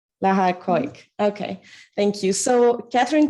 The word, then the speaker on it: Keuck: So Kathryn, Tabb, and Lara Keuck. I should have asked you if I pronounced that well, actually. Lara? Yeah, it's all fine. It's Lara Keuck. Lara Keuck.